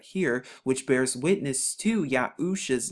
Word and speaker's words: Yahusha: get arusha husha and if we just place the yard right here we get the y sound to get yahusha the name of joshua